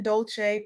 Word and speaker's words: Dolce: I'm Dolce, pronounced dolce like sweet softness whispered in French.